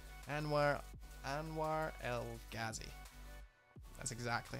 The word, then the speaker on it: Anwar El Ghazi: this chap I don't even know how to pronounce his name and where Anwar El Ghazi that's exactly how you say it and if